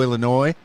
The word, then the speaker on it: Illinois: omar mcclinton in chicago illinois and i i did say it properly because there's no noise in illinois so uh yeah chicago